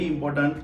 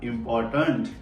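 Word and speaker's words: important: है bird and very इंपोर्टेंट देखो मेरे मुंह से निकला इंपॉर्टेंट इसको इंपोर्टेंट नहीं बोलते र को साइलेंट रखिए इंपोर्टेंट ये बहुत इंपोर्टेंट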